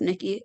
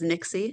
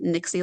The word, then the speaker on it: Nixi: It is not pronounced Nikki. It is Nixi. Nixi like Pixie.